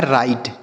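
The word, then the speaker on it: right: रहता है तो जी एच टी अगर आपने हमारी वीडियोस को देखा होगा तो हमने बताया है कि जी एच टी होता है तो उसे हम केवल ट लिखते हैं। क्या लिखते हैं? ट। तो यहां पे हम लिखेंगे ट। पीछे की वीडियोस में हमने बताया है। तो यह लिखा है राइट।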